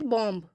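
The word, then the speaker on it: bomb: देखिएगा तो जहां बी एम के बाद आएगा तो वहां पर बी साइलेंट हो जाएगा तो फॉर एग्जांपल इसमें देखिएगा जैसे बॉम कॉम थम तो यहां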